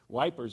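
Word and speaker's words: Ypres: was being used against at ipra I think that's how you pronounce it it's wipers I think is how the Brits actually pronounce it it's a French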